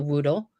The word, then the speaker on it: Whoodle: You could look up a Woodle, WHOODLE. Just Google that right now. Do yourself a favor and see the majesticness of the Woodle.